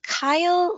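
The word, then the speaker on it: chyle: pronunciation may be off on this but can kyle leak through the uterus it's pronounced it's spelled c-h-y-l-e yes uh it could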